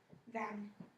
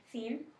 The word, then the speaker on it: theme: Because that vowel has to be long, right? Because it's got the silent E at the end. So say it one more time. Theme.